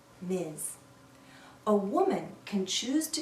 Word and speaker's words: Ms: mrs jones m s we pronounce this as miz miz sounds like a z at the end miz a woman can choose